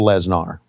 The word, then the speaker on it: Lesnar: So she is Sable Lesnar. Lesnar is the way you pronounce her name.